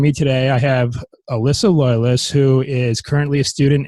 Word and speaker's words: Loyless: I don't even know if I pronounce it correctly. It's Loyless.